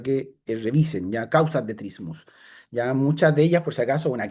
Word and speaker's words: trismus: Trismus. T r i m u s. Ya, también se escribe trismo, pero la palabra correcta es trismus, ya, que básicamente es